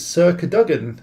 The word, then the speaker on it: Cadogan: It's Sir Cadogan, and it's spelt like that.